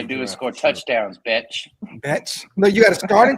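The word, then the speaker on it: Bech: So that's Genty, Jack Beck, or Beach, however you want to say it. Darian Porter, Caleb Rogers, and now Charles Grant. It's Zach Betch. Betch.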